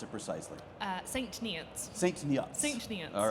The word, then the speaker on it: St. Neots: How do you pronounce it precisely? St. Neots.